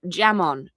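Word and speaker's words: jamón: It's pron it's jam jamon. Jamon, but they pronounce the j as a.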